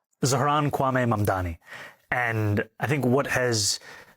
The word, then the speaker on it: Zohran Mamdani: I'm running against a man named Zoran Mandami. He's a socialist. If you can respond to that and tell us how you say it, your full name, Zaharanwaame Mdani.